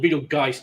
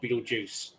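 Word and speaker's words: Betelgeuse: it up there but it's called beetle guys not beetlejuice well hey we're in america we pronounce it the american way you guys will just america except with a g not a j oh well it's beetle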